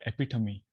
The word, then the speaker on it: epitome: I recently learned that word is pronounced as epitome. Okay, so apologies for erroneous pronunciation. So epitome of our nivrutti marga is Lord Shiva.